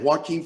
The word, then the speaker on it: Joaquin: Quan how do you say his name is Joaquin Phoenix yeah I mean he didn't do a